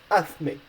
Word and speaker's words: hazme: you can see that it's ending with an E, so the rules say that you need to stress the last but one vowel, the vowel from the last but one syllable, so the A in this case. So you need to say hazme.